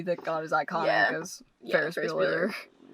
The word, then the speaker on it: Ferris Bueller: Because I feel like either he based Ferris Bueller on Ducky, or Ducky was based on Ferris Bueller.